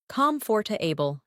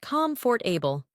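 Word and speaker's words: comfortable: Repeat these pairs after me and notice which syllable is stronger. Comforable, not comfort for able.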